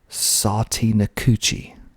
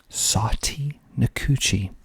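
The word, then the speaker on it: Sautee Nacoochee: so we also have another weird one called sati nikuchi i don't even know where this is but it's spelled s-a-u-t-e c n-a-c-o-o-c-h i e satie nikuchi next we have lagrange lagrange rex rex home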